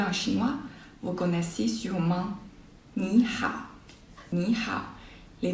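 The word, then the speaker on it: 你好: Le premier se prononce au 2e ton. Donc, c'est Ni hao.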